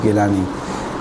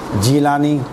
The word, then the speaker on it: گیلانی: سب گیلان سے گیلانی، یا یہاں پہ ان کو بعض کو کہا جاتا ہے جیلانی، وہ جیلانی صحیح نہیں ہے، جیلانی وہ حقیقت میں گیلانی ہے، جیلانی کچھ بھی نہیں ہے، تلفظ کی وجہ سے، چونکہ وہاں کے رہنے والے گاف کو صحیح ادا نہیں کر سکتے، وہ کہہ رہے جیلانی، کہاں کے رہنے والے؟ جیلانی، تو وہ جیلانی بن گئے، خیر اصل گیلانی ہے،